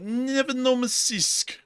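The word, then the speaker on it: Nevinnomyssk: So, moving us on down into the town of Nevenomysisk, which is how you pronounce that, actually.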